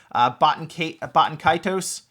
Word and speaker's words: Baten Kaitos: That is, I don't even know how to really pronounce this as much. It's Baten Kaitos.